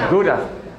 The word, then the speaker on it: Gouda: That's how you pronounce it here? Well, Gouda.